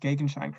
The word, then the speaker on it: Gegenschein: A friend of mine that speaks German said that I pronounced Gegenschein correctly, so nice.